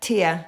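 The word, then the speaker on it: Taia: Tia.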